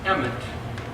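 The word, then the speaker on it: אמת: Well, the word Aleph, Mem, Tav is pronounced Emet, which is the word truth.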